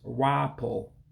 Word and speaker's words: rapụ: In Igbo, it's Rah-Poe for rap. Rah-Poe for rap. Because again, you got that U with the dot underneath, gives it an O sound. So Rah-Poe, rap. So again, just 2 syllables.